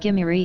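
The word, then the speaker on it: Gimirri: king of the scythians saka or sumerians pronounced gimeri in babylonian showing that the scythians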